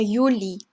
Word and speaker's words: Juli: Der Juli, der Juli. 자, 지금 Julie라고 읽지 않고 Juli라고 읽은 거 보이시죠? J 때문에 그래요.